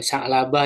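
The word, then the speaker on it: ثعلبة: Ya, jadi Sa'labah itu fathisa ya, sanya difathahkan ya setelahnya ain, huruf ain yang tidak bertitik ya kalau bertitik berarti goin. Yang sukun ya sakinah. Lalu lam yang fathah ya, lalu ba yang bertitik satu muahadah.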